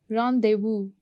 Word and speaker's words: rendezvous: Rendezvous, Z is silent and then S is silent.